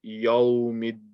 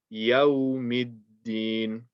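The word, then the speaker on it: يوم الدين: People tend to make this ya heavy. So they kind of say Yawmiddin. You don't want to say yo. You want to say yo. Keep the ya like a ya. Like, so don't say ya. Don't say yo. Say ya. Yawmiddin. And don't say Yawmiddin. Make sure that the ya remains light.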